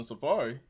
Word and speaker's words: Safaree: Yeah, I ain't never heard nobody say his name other than Safaree. Safaree and Seraphie. Seraphie and Safaree. I kept reading that shit wrong as hell.